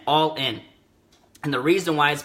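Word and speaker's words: Ollin: whole chapter is called it's called all in okay but it's spelled o llin all in and the reason why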